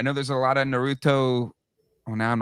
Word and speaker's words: Naruto: I'm sure I'm sure the Hot Wheels people or Naruto, I don't know how to pronounce it.